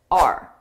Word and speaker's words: our: That's outa our budget, our. Notice the word is our because it's a possessive, our budget. The budget belongs to us, but I pronounce it just as a very unstressed R, our budget, our budget.